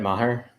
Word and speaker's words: Maher: it Brett Mar Tim how do you say his last name Brad Maher Maher man that each just feels so wrong in the middle there but that is